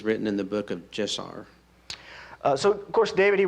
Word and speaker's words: Jashar: is the book of Jeshar located? Genesis, Exodus, Leviticus, Numbers, Deuteronomy, Joshua. Where is it located? Or Yashar, it could be pronounced. So yeah, the book of Jashar, it means the book of the upright.